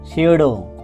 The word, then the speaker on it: pseudo: quicksand অর্থ চোরাবালি, PSEUDO সিউডো অর্থ ছদ্মনাম বা নকল এখানে পি এর উচ্চারণ হবে না, PORTRAIT প্রোটেট অর্থ ছবি,